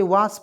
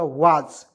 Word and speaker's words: was: यहाँ पे देखिए WA से लिखेंगे वाह, और देखिए एस का उच्चारण ज के रूप में करेंगे तो हो जाएगा वाज, ठीक है।